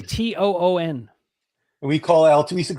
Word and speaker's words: Toon: Not even spelled the same. Al Tune was Toon.